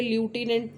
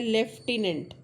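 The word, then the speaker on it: lieutenant: हूं ये वर्ड लटनेंट पर यह लटिनेंट नहीं है। यह क्या है? लेफ्टिनेंट है ना? तो यहां पर यह जो बीच में साउंड है यह एफ का साउंड जबकि इसमें एफ है ही नहीं तो इसमें फर्क नहीं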